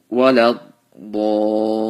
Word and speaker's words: ولا الضالين: And walad dallin. So this mud right here, we have to stretch it for 5 seconds, 5 alifs. Why? Because there is no hamza after mud.